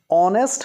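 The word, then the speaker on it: honest: अव्वल dash ऑनेस्ट king ऑनेस्ट हमलों की जांच से शुरू हो रहा है परंतु इसका जब उच्चारण होता है तो एच साइलेंट है कि इस डैश ऑन टेस्टिंग पॉवर की आवाज आ रही है ऑनेस्ट में तो यहां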